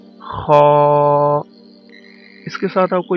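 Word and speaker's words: خ: अदा किया जाता है, लेकिन लिप्स को कर्व इतना नहीं करना कि वो सर्कल हो जाए, इसलिए लिप्स को थोड़ा सा कर्व करना है और इस तरह से अदा करना है, खा।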